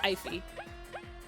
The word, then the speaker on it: eyfey: It's pronounced no, it's pronounced eyfey. Like, if you had to pay your eyeball, that would be an eyfey. Or like, usually when I type it out in text, it's like IV, but with an F instead of a V.